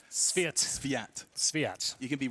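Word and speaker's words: svyat: You have to pronounce it as Sviat. Sviat. Just rush it. Say it like a Brit. Sviat.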